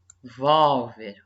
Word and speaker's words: revólver: Qual que é a minha sílaba tônica? Ó, revolver e revólver. Olha só, sílaba tônica é diferente, ó.